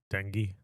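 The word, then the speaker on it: dengue: Dingi.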